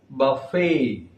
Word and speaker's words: buffet: It is buffet.